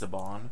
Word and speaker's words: Saban: I'm pretty sure it's pronounced Saban.